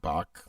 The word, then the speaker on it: Back: it's spelled back but he pronounced it bach like johann sebastian bach um greg is also